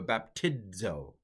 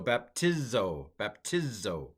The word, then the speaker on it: baptizo: But in the middle of a word, I was taught with Erasmus, when I studied in the 1500s, that you would do a baptizo. However, I'm told that at the time of Christ, that's not the way it was. It was more of a Z. Just everything is Z. Everything is like Z, even a doubled Z. Z, a held out Z. So baptizo. Okay.